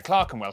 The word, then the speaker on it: Clerkenwell: Norwich, Berwick, Southwark, ER is pronounced R. Berkshire, Clerkenwell, Hertfordshire.